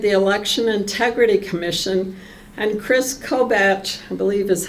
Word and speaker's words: Kris Kobach: president Trump created the election integrity Commission and Kris Kobach I believe is how you pronounce it from Kansas it's one of the